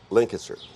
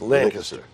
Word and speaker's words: Lancaster: I was there 3 years and went to Lancaster, not Lancaster. It's Lancaster. Lancaster, Yes, right.